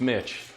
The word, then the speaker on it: Mitch: The name is Mitch. Yeah. And it rhymes with itch.